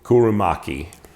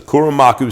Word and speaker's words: Kuromaku: series this is the i always say this wrong this is like kurum kurumaki i think that's the name i think that's how you say it oh you know what is it right on here there you go kuro okay this is the kurumaku series is one of their